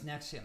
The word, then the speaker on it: NXIVM: Yeah, that's Nexium. That's how they spell it.